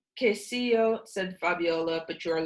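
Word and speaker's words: queso: her on the wall a sign read KCU k CEO I said sounding out the word but flora and Fabiola nodded approvingly it's pronounced k CEO sent Fabiola but you are learning very fast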